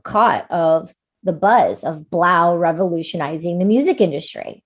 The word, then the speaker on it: 3LAU: He goes by Blau. He's a DJ. His name is spelled 3LAU.